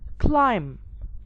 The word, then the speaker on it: climb: h will be silent another example i have climb not climb i have thumb not thumb i